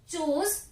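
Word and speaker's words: chose: Begin, began, begin, break, broke, broken, चूज, चोज, चूजन। अब spelling यहाँ पे ओ है, लेकिन इसकी साउंड क्या हो जाती है, चोज।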